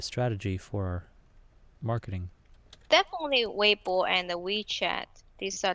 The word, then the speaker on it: Weibo: so I guess when you set up our Weibo account am i pronouncing it right Weibo yes fancy tong have you heard of it